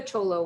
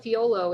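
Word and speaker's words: Thyolo: trips people out because they they call it fiolo it's it's spelt t-h-y-o-l-o theolo is what it looks like but uh in in the the local language there it's uh cholo and that's like the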